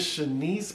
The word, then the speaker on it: Chinese: it says aka nissi her name is shanice but it's spelled like chinese that must have been